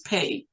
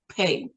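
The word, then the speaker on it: פ: And by the way, 5780 on God's calendar means pay, P-E-Y, and some people spell it, some spellings is P-E-H, pay.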